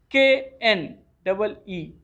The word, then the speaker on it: knee: KNEE. Knee. Here K will be silent. Only N will be pronounced.